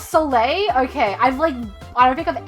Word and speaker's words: Soleil: Oh, it's Soleil.